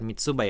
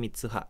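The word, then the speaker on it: 三葉: Mitsuha bukan sano ya, tapi Mitsuha. Bawahnya juga salah tuh. Bukan Mitsuba ya, tapi Mitsuha. Mitsuha namanya ya.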